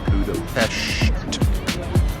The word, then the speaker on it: Budapest: It is our first full day in Budapest. And that's how we were told by the locals last night to pronounce it, Budapest.